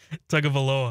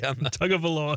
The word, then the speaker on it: Tagovailoa: Tagovailoa. I don't think Chad said it right. Tagovailoa. Tagovailoa.